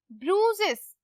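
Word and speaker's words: bruises: ब्रूजेस, ब्रूसेस, आई जो है silent हो जाएगा, ब्रूजेस।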